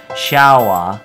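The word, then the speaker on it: シャワー: So shower will be changed to the Japanese pronunciation shawa.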